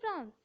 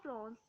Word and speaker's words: France: called France or France, because in France people don't usually uh, usually pronounce the R, so they speak France. But I would here pronounce R, because you are all beginners, so you need practice. And if you say R, it is not a problem, because speaking R is correct, but the local people of France don't speak R, don't pronounce R. They usually skip it.